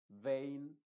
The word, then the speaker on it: vein: te voy a mencionar En estos casos la e en inglés estoy hablando se va a pronunciar como el sonido de la a original que es precisamente e